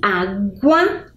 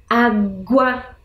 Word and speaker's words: água: Água, aguentar. Percebam que água e aguentar, eu consigo perceber o som da letra G.